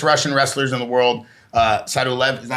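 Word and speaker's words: Sadulaev: Sadulev, is that how you say it? Sadulev? Yeah, Sadulev.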